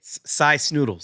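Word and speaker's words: Sy Snootles: Cy Snoodles.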